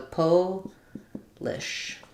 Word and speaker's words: Polish: It's stressed on the first syllable, po. And then we just have the I sound, the ul sound, the I sound, and the sh sound. So Polish. With the po being longer and stressed and the lish being shorter. Versus polish, we say the ah sound.